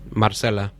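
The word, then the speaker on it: Marcela: Marcella.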